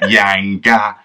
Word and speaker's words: Yanga: You have to say like Yanga, as in, don't do Yanga for me.